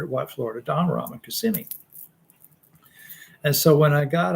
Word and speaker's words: Kissimmee: the thai order at what florida dhammaram and kissimmee and so when i got up to speak